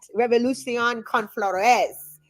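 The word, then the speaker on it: Revolución con Flores: Revolution Con Flores.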